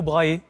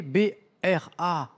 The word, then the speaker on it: Brahe: Tycho Brahe. Bravo. Avec la bonne prononciation et tout, et tout, et tout, hein. Le Tycho, ça s'écrit T-Y-C-H-O, ça se prononce Tycho, Brahe, B-R-A-H-E, Brahe, exactement.